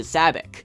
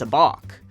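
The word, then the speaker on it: sabacc: in a game against Lando some people incorrectly pronounce into SABIC while the correct pronunciation is a balk regardless of how you say it it's always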